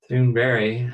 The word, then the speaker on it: Thunberg: Greta Thunberg, Thunberg, I guess as she pronounces it, more or less, the